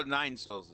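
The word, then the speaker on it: Nine Sols: Oh, Nine Souls. I thought you said Mobo for some No, reason. it's Nine space SOLS. Like soul is in the sun.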